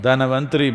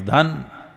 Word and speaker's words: Dhanvantari: North Indian people must connect, don't go on clipping away one syllable and come Dhanvantari becomes Dhan, Trayodashi becomes Tera.